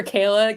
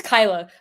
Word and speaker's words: Kyla: so and trade for Kayla Kyla it's Kyla but that's right then it's a fair